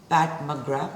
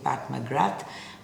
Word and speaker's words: McGrath: Another lipstick by Pat McGrath. My team corrected me. My pronunciations are all over the place. I was saying Pat McGrath, but it's Pat McGrath, right?